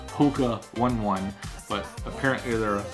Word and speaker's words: Hoka One One: For the longest time, I was saying Hoka One One, but apparently they're Hoka One One, and these are the Hoka One One Bondi 6.